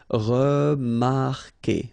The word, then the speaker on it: remarquer: Anyway, you've got to put this vowel U, even if you don't pronounce it. Okay, so it will go like que. Okay, remarquer.